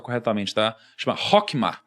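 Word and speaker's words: חכמה: A primeira chama, não sei se eu vou pronunciar corretamente, tá? Chama Hokma. É Rockma.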